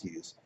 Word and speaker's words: Hyuse: So it probably is pronounced Hughes, but whatever.